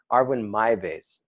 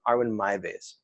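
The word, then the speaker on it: Armin Meiwes: German guy named um I think you pronounce his name Arvin Arwen my base r1 r1 my base and I'll put a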